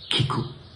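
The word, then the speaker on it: 聞く: In giapponese il verbo ascoltare, sentire, si pronuncia kiku.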